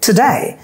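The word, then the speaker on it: today: For example টুডে, এই ওয়ার্ডটার মধ্যে দেখেন দুটো সিলেবল রয়েছে, টুডে। এবার দেখেন ডেটা খুব জোরে বলছি আমরা, টুডে টুডে, টুনাইট টুনাইট, আমরা বলি two night two night, টুডে।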